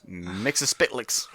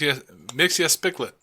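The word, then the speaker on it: Mxyzptlk: mix of spits because that's the closest I closest I can get to pronouncing that correctly and like I don't know how many people just said that's wrong in their head it's mix mixia splet yeah um it's just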